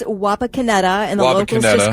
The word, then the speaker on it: Wapakoneta: It's Wapakoneta, and the locals Wapakoneta.